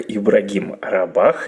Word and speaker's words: Ибрагим Рабах: Вот как-то раз мне рассказали про такого прекрасного спикера, как Ибрагим Рабах, если я сейчас правильно все с ударением сказал, поправь Все меня. верно.